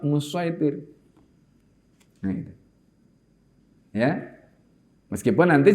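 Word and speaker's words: مصيطر: Tapi bacanya pakai shad musaitir.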